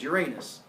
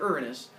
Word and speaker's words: Uranus: giggle every time and you're gonna call them Gaia and Uranus I've gotten used to it that's fine just realize that I refer to them I'm going to use the official name to say here Ghia and earnest and in your heads